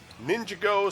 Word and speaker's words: Ninjago: a well Ninjago it's it's the word ninja and the word go together so ninja go I don't care how